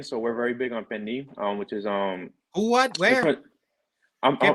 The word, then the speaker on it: pernil: So it's spelled Pernil. In Spanish it's pernil, but in English it would be pernil.